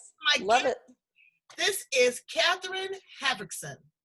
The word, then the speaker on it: Hartvickson: This is Katherine Hartvickson. Hartvickson? Am I saying that correctly? Hartvickson.